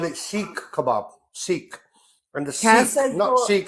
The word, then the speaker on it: Seekh: Sikh. And the Cass Sikh, says not so. Sikh as in the religion. Sikh. You can spell it Seekh.